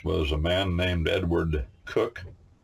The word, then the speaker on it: Coke: a man named Edward cook in America we say Edward Coke because it's spelled Coke to us c k in England they call him cook but as I like